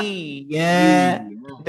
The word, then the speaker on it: إياك: ইয়াকা ইয়াকা ইয়াকা হ্যাঁ, ইয়াকা। যেখানে আমাদের যে প্রবলেমটা এখানে হবে সেটা হচ্ছে ইয়াকা হামজার উচ্চারণটা চলে যাবে, আর ইয়াতে এসে একটা ধাক্কা লেগে যাবে।